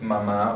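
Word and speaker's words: mamá: So the next one is mama or mother. We have the accent, the written accent on the last syllable, so that's what we're going to stress.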